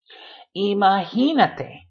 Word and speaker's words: imagínate: Lápiz, autobús, doesn't matter what else you know about the word, you're going to put that stress on the syllable with the accent mark. Imagínate, imagínate.